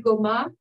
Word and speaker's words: Goma: Et je voudrais réitérer ici la complexité de l'exil qu'on a retrouvé chez Paul Goma. Cette fois, j'ai prononcé à la manière française, mais nous qui savons